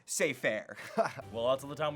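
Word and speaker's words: Cypher: Like Cyber said in The Matrix, ignorance is bliss. It's pronounced say fair.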